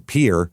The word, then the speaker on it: Pierre: episode, which was in Pier, which is how they pronounce Pierre because they hate French people, I assume.